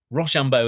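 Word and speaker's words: Rocambeau: called the Rambo Club Rambo as in the sort of French way You' spell it R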